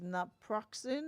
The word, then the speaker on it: naproxen: Is naproxen, that's how you pronounce it, better to Yes.